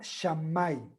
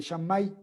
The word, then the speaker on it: Shammai: Uno se llama Shammai, se escribe S-H-A-M-M-A-I.